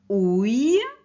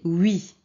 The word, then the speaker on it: oui: ok ui maintenant alors ce n'est pas ououi alors je vous le dis directement alors ici c'est oui oui ok alors ça c'est